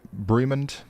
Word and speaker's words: Bremond: We got a he got a Even better, Brim B Bremond.